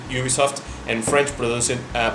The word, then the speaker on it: Ubisoft: seconds we realized that Americans pronounce it Ubisoft and French prod it uh pronounce it Ubisoft and that was it